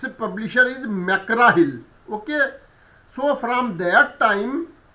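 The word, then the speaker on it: McGraw-Hill: it's a publisher is Makara Hill okay so from that time from that day I have changed my mind and now I do not pronounce this publisher as MC grahil rather I pronounce it as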